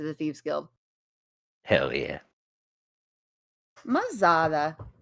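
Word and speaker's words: Ma-Zaddha: Mazada. It's spelled M-A little hyphen. Z-A-D-D-H-A. Mazada.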